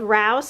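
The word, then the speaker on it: Rao's: picked up some of Rous sauces I think that's how you pronounce it it's r a o apostrophe s I had read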